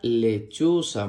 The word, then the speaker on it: lechuza: Y la última imagen muestra una lechuza. Muy bien. La palabra lechuza se escribe con L-E, que suena le, C-H-U, que suena chu, Z-A, que suena sa. Lechuza, lechuza.